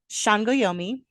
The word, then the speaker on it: Sangoyomi: I didn't know S's in, Nigerian, but now I do. It's a sh. So, Sangoyomi.